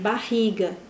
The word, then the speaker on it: barriga: tem dificuldade para pronunciar quando você vai dizer barriga se você não prestar atenção que barriga ri 2r são fortes você vai ler barriga